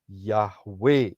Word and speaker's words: Yahweh: Ya, kalau saudara perhatikan huruf-huruf di depannya adalah YHWH, yang dipronunciasikan adalah Yahweh itu sendiri.